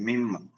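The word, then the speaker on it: ܡܝܡ: ശ്രദ്ധിക്കുക ലാമത് അടുത്ത അക്ഷരം മലയാളത്തിൽ മ എന്ന് പറയുന്ന ഉച്ചാരണം ഉള്ളതാണ് ഇംഗ്ലീഷിലെ എം എന്ന് പറയുന്ന ഉച്ചാരണമാണ് മിമ എന്ന് പറയും മിമ മിമ മിമ ഇത് എഴുതുന്നത്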